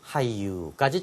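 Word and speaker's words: 俳優: 일본어 우승 어떻게 발음해요? 우승을 유쇼, 배우를 하이유까지 챙겨두시면 되겠습니다.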